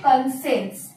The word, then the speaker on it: conscience: এটার উচ্চারণ হচ্ছে, এটা স্পেলিং এ আছে কনসাইন্স, কিন্তু উচ্চারণ হচ্ছে কনসেন্স।